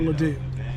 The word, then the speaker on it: Ledoux: here, this was the spiritual home of Father Ledoux. I'll spell it for you, L-E-D-O-U-X, and Father Ledoux was a master storyteller.